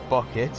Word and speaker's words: Bucket: Yeah, she doesn't like her name being pronounced as Bucket. Even Which though it it is. really It's is pronounced bouquet.